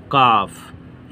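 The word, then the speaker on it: calf: अ ब्राह्मण रिसीवड अ काफ इसको काफ पढ़ते हैं यहां पर ल साइलेंट होता है अ बेबी काउ एज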